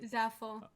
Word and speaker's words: Zaful: uh or a clothing company and then uh zaful am I pronouncing that correctly that's right zaful so did they reach out to you did